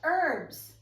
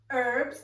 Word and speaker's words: herbs: also have some fresh herbs herbs is spelled h e r b s however in english we do not pronounce the h some of these herbs